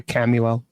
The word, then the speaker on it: Chamuel: Chamuel. Yeah, there are many different pronunciations I've heard, but Chamuel. Some people say Camuel.